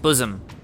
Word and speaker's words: bosom: it from the host bosom. See, this time I pronounced it right. Bosom, not bossom.